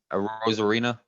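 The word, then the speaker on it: Arozarena: a Rosarena, Yeah, a Rosarena, I think is their best player in this whole World Series.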